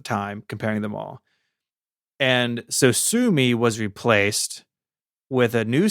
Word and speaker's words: Sosumi: And so he came up with a new name, Sosumi. It's spelled Sosumi. So it doesn't look like Sosumi, but it sounds like Sosumi.